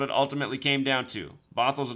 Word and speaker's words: Bothell: Bothell is spelled like bot hell. Bothell.